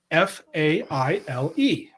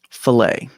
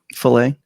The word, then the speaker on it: Faile: This one is spelled Faile. Filet. So I nailed it, didn't I? what I love is that Steve is trying, because it was always fail to me.